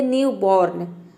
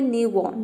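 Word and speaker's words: newborn: pronunciation बिल्कुल correct होगा क्योंकि यदि आपने आर को प्रोनाउंस किया तो शायद हो सकता है कि आपने आर को पूरा प्रोनाउंस कर दे यानी कि आप बोल दे न्यू बोर्न तो आपका प्रोनंसिएशन गलत हो जाएगा आप यह बोले न्यू बन मतलब नवजात उसके बाद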